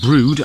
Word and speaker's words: Brewood: means hill or hillside so brie would will brood as it's pronounced simply means would on a hill the canal through brute is set in a cutting so we'll describe